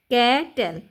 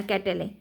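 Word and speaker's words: cattle: ক্যাট তারপর এল ই ক্যাটেল এখানে ইর উচ্চারণটা হবে না ক্যাটেলে ক্যাটেল হবে জাস্ট বি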